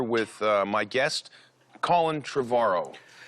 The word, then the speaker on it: Trevorrow: uh my guest colin trevaro you said it right finally trevor like tomorrow yeah there you go